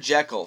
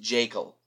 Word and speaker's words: Jaeckel: He's played by Richard Jekyll from Grizzly. No, not Dr. Jekyll. It's spelled Jaeckel, or maybe it's pronounced Jekyll.